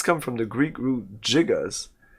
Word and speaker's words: gigas: It does come from the Greek root gigas. That Greek root is pronounced with a J sound, not a G sound, for gigantic.